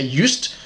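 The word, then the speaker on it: Joost: seen before juiced are not sure actually i pronounced that so africans would say yust but america's maybe said juiced j-o-o-s-t anyway um they did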